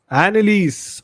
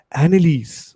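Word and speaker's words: Anneliese: How do you pronounce this name? Let me see on Google. Annalise. Oh my god. Such a fucking easy name I could not pronounce. Annalise.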